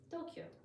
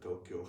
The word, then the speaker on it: Tokyo: But if you speak Japanese, it should be pronounced like Tokyo. Yeah. This if you ask all the Japanese people everybody who dance Tokyo has four beats for more interesting no discussion about it.